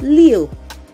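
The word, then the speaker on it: 六: numbers is and that is leo leo leo just like you are saying the english leo like leo in english leo leo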